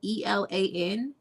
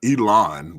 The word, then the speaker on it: Elan: That's Chateau, and Elan is spelled ELAN. And it's this one that I'm drinking is called summer wine. It's not Elon, but Elan. Elon. It is. It's you say Elan.